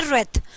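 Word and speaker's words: wrath: आप लोगों के सामने रेथ ठीक है डब्लू साइलेंट होता है इसमें रेथ इसको बोला जाता है खत्म लास्ट वर्ड हैय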